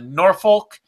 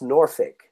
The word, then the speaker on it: Norfolk: next week for UFC Norfolk and what's on the Bellator everybody real quick Zayn it's pronounced Norfolk Norfolk whatever I don't care about it's not nor folk don't do the jenia